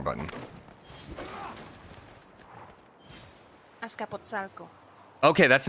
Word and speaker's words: Azcapotzalco: Pronunciation. That was... I clicked the wrong button. Azcapotzalco. Okay, that's not at all what I thought. Azcapotzalco. Azcapotzalco.